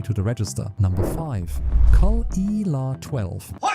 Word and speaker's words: Caol Ila: THIS ONE IS pronounced "Cool Eela" and yes, absolutely everyone butchers it the first time, so don't feel bad. Caol Eela is the smooth operator